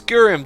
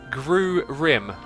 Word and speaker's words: Gurim: It's Gurim, 2K's back again. And dude, why are you correcting me? He says it's pronounced Gru-rim. Hopefully I read that correctly.